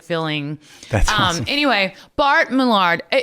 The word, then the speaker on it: Millard: But technically, it's Millard. Bart Millard. Yeah, cuz it looks like Mard and it kind of rhymes with Bart, so people kind of go there. But you don't shop at Dillards. You don't play You're right. You don't play billiards or it's not a malard duck.